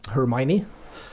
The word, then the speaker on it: Hermione: Well, I pronounce my username Hermione, so that's how you do it as well, but I don't really care how people pronounce it.